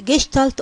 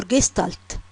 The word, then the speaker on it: Gestalt: Uh it's pronounced as gestalt or gestalt.